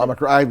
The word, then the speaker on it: Omicron: Yeah, the innovations are going to be important because, as you just mentioned earlier, you didn't expect Omicron to be here. Is that how you pronounce it? Omicron, that's what I'm saying.